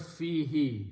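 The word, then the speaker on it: فيه: there is a word fee he so if I feel means in and who miss it if I pronounce them together the because of the Phi sound who is pronounced as he so this fee he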